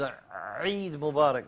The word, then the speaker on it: عيد مبارك: From the Ain. Ustad Hamza would be proud of that pronunciation. The Ain coming from the deepest part of the throat.